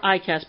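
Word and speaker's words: EICAS: Moving right along, we have the upper and lower ICAS panels. Now, ICAS is spelled E-I-C-A-S, and it stands for Engine Instrument Crew Alert System.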